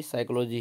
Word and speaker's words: psychology: लेकिन इसको इंग्लिश में थोड़ा सा पी जो शब्द दिया होता है वो साइलेंट होता है, इसलिए आप इसको गलत उच्चारण मत करिएगा। ये साइकोलॉजी है।